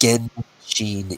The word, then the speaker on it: Genshin: Genshin Impact. I said that right? G, Metal? not a... Yeah. It's a hard G.